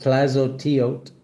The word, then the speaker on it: Tlazolteotl: Clazo Teote pronounced Clazot Teote is a Mesoamerican earth mother of the Aztecs and the Hastic, an indigenous Mexican people, a patronist of midwives.